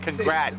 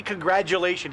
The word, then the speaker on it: congratulations: congratulations it sounds like congrat people say congrat but you say congratulations like a d it doesn't always sound like a d congratulations it's a g even how do you